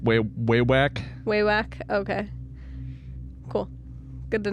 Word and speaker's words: Wewak: Pronounced Wewak.